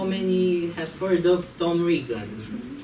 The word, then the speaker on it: Regan: have heard of Tom Regan. Interestingly, that it rhymes with vegan.